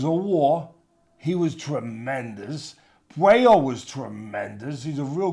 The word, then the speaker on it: Puello: that he fought with Palou, how do I pronounce his name? Puello.